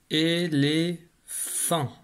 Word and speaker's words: éléphant: Voilà, nous voici face à un éléphant. Dans éléphant, j'entends le feu dans la troisième syllabe.